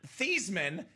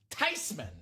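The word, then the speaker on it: Theismann: He said, "Well, of course it's Tyman. It's a German name." Uh so it is actually pronounced Joe Tyman.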